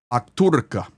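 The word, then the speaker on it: Okhtyrka: This is the very important town of Okurtka. Akturka, better pronunciation.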